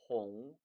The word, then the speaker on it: 虹: 홍, 꽁, 홍, 꽁. 아하, 발음이 장인 공자에서 왔구나.